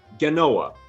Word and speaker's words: Genoa: in the foothills in genoa is that i probably on that okay yeah soft g not g noah like genome oh no it was